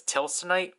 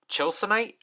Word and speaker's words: Chilsonite: And again, I think this is the same case like the Tilsonite sword, where it's romanized as Tilsonite, but it's pronounced as Chilsonite.